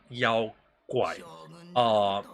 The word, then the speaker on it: 妖怪: And the original right way to pronounce it is called Yao Guai. It's a very emphasized word on the second word because the reason why